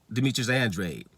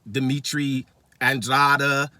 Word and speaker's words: Demetrius Andrade: Ask people how to pronounce the American champion that's been there for a decade, Demetrius Andrade. Calling him Dimitri Andrada and all kind of stuff. Still can't pronounce his name.